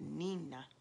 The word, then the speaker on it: Nina: had christened me Nina, pronounced it Nina, which was the Spanish word for little one. Chico had called me that all the time, and I really loved the way it sounded, Nina.